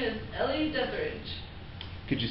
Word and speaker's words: Ellie Deatherage: you tell us your name my name is Ellie deatherage could you spell it for us e-l-l-i-e-d-e-t-h-e-r-a-g-e have you been following